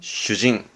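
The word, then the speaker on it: 主人: 발음은 슈징.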